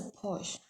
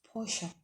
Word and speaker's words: Porsche: That's a Porsche. Okay, it's a Porsche, but some people call it Porsche. There's a pronunciation I watched last time. It says Porsche. It's not like a Porsche. It's a Porsche, right?